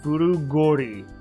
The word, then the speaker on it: 古氷: Furugori? Or is it Furugoori? Furugoori. It's like, which way do you pronounce this? Furugori? Furugori.